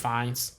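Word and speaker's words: Fiennes: starring ralph of uh i think it's pronounced fines gemma archerton arterton uh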